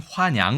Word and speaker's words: 화냥: 우리 는 그것 을 " 황양 " 이라 고 발음 합니다 .